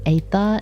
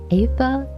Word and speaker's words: aether: To be fair, pronouncing aether is hard. Ether.